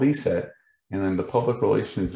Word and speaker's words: ESET: about the company now eset as you can see on the screen it's not pronounced asset uh or e-s-e-t but some people will spell that out it's actually e-set and it translates into